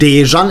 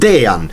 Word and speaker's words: Dejan: seit Jahren immer falsch es ist nicht Dejan es ist Dean lubic ein J ist bei uns immer ein J es ist kein je bzw kommt machen wir